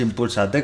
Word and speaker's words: ImpulsaT: asociación impulsa y t porque se escribe impulsa y luego se pone una t no se impulsa t con é Así que Bueno nos